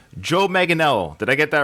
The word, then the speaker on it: Manganiello: Ninth, and I had to get this guy's pronunciation of his last name. Joe Manganiello. Did I get that right? Manganiello.